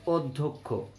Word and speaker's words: অধ্যক্ষ: অধ্যক্ষ, এটা ঠিক উচ্চারণ হবে অধ্যক্ষ।